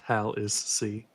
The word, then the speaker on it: Hallisey: Hallisey. I will come back to her. Mr. Hirsch, Pronounced Hal is C.